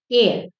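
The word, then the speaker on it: heir: ही एन एर एंड हम हायर नहीं बोलते या हेयर नहीं बोलते हम बोलते एयर देर फॉर वी आर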